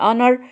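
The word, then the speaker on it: honour: او كده فاسمها اونر الاحظ هنا يا حبايبي ان الاتش انا ما بنطقها الاتش هنا سايلنت وااو بقولها ا يعني انر ليها نطق غير كتابتها شويه ررررر خدناها قبل كده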